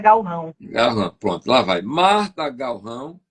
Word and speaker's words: Galrão: Aí você falou, Zé, esse encontro consonantal não é, em português não se pronuncia assim, é Galrão.